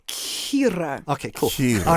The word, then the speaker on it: Kira: Kira or Kira? It's pronounced Kira.